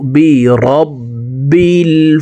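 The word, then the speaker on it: بِرَبِّ: লাম পেশল আউু আইন হরফকে হলুকের মধ্যখান থেকে উচ্চারণ করতে হবে। কারণ আইনের মাখরাজ হলুকের মধ্যখান থেকে হবে। আইন ওয়াও পেশু আউ বি রববিল।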